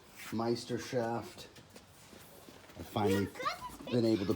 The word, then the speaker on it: Meisterschaft: It's Meistershaft. I finally been able to pronounce it correctly.